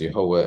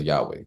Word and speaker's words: YHWH: And we pronounce it here as Yehovah, and many people around the world pronounce it as Yahweh.